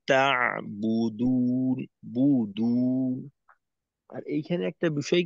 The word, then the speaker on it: تعبدون: তো এক গোলের মাধ্যমে দুইটা আদায় না করে বু শেষ করার পর ঠোঁটটাকে একটু ছেড়ে দ্বিতীয়বার গোল করে দুয়ের উচ্চারণ করা।